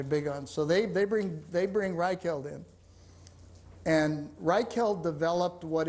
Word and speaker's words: Reichheld: Reichheld, R-E-I-C-H-H-E-L-D, The Ultimate Question. Can you spell it? R-E-I-C-H-H-E-L-D, as in Third Reich, and then the word held.